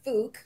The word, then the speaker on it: Phuc: the show yeah right it's supposed to be pronounced fuch right and the best part of the name is is that fuch means blessings prosperity good fortune and good health